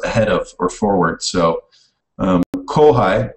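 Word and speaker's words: kōhai: So kohai. Now, you may notice right away that these are pronounced differently. Last one it was pronounced pai, and now it's pronounced hai. And that goes back to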